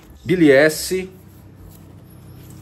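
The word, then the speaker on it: billietiae: Biliesse, pronúncia correta, Philodendron biliesse.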